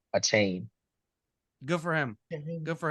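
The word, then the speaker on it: Achane: you aain aain aain a chain oh hey whatever you call3 yeah right the man the man came out and said my last name is pronounced a chain good for him good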